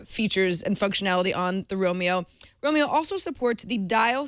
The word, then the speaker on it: Roamio: iio just so you know although it is pronounced Romeo which is somewhat of an unfortunate name but